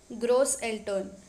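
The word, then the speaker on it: Großeltern: can say surface s remember it is pronounced as s so so that was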